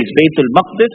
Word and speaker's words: Baytul Maqdis: Baytul Muqaddas is pronounced in 2 ways. Baytul Maqdis and Baytul Muqaddas. Both are okay.